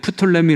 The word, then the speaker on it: 프톨레미: 어떻게 되죠 프톨레미 암자 아까는 톨레미 왕조 하던 이제는 프톨레미 발음 그냥 프톨레미 로 하는게 나을 것 같애 부 톨레미 왕조 또